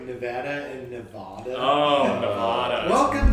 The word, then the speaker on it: Nevada: Wait, is that like Nevada and Nevada?